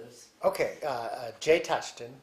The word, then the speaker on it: Tutchton: So, first of all, tell me your name and spell it and what your official title is. Okay. Uh uh Jay Touchton.